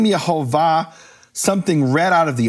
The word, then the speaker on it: Yehovah: recording, who say that the vowels are Yehovah, this is the name of the creator of the universe and the true pronunciation.